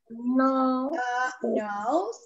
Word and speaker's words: nose: Se escribe no sé. Ok, no, se pronuncia nose.